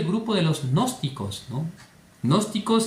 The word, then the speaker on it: gnósticos: de los gnósticos no gnósticos se escribe con g al principio y luego n no gnósticos que eran